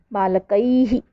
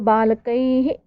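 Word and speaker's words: बालकैः: बालकाभ्याम, बालकैहि, विसर्ग लगी हुई है। तो देखेंगे, आपने देखा होगा जिस तरीके की मात्रा होती है उसी के साउंड जैसे मिलता हुआ ह का उच्चारण होता है। तो बालकैहि।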